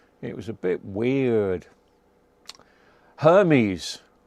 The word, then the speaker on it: Hermes: Hermes rhymes with yes.